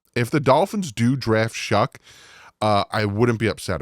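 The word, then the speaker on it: Shough: but it's pronounced Shu sh u c k but it's spelled sh o u g h like tough but with a sh in it so you think it'd be Shuff but it's pronounced shuck and I literally went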